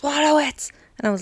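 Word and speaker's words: Wojtowicz: 2014, was this about John Waterwitz, I think his name is pronounced. Okay. He actually shouted at someone and said, "It's pronounced Waterwitz," and I was like, "Whoa!"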